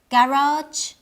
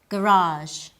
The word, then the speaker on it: garage: are common internationally but their pronunciation may vary depending on the dialect list listen carefully and try to identify the differences in pronunciation adult adult detail detail garage garage vaccine vaccine both ways are correct they're different but correct in English you